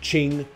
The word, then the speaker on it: Qing: 20 minutes or so i mispronounce uh the qing dynasty's name i say king instead but i do correct